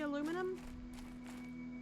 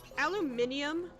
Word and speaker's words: aluminium: Anyone British in chat knows why was the aluminium, what, do you know why an extra syllable? Did y'all add the syllable or did Americans remove it? Yeah, I know can't deconstruct.